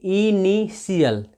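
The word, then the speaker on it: initial: उच्चारण 100 होता है तो यहां पे भी देखिए टी आई है तो टी आई ओ का उच्चारण करेंगे तो इसको पढ़ेंगे इनिशियल क्या पढ़ेंगे इसको इनिशियल कितने लोग इनिशियल पढ़ते हैं जो की गलत है आपको इनिशियल पढ़ना है क्योंकि नियम में है की अगर टी के बाद या ए जाए तो उसका उच्चारण एस होता है और इसके आधार पे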